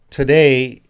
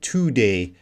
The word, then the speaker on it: today: In today, the two, it doesn't, we don't say today. We're gonna reduce this vowel sound to today.